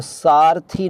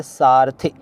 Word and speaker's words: सारथी: यह कह रहा हूं तो सारथी नहीं बल्कि सारथी बल्कि यूं कहे सारथी इ की मात्रा है ई नहीं ठीक है नेक्स्ट अहिल्या